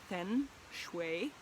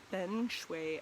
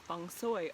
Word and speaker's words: feng shui: both languages agreed that feng shui and fung soy are the proper pronunciations and i just wanted